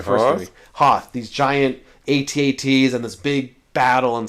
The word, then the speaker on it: AT-AT: Hoth, these giant AT-ATs and this big battle and stuff. Why aren't they AT-ATs?